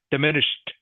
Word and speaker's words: diminished: please Quang diminish diminished with a t on the end diminished diminish um diminish okay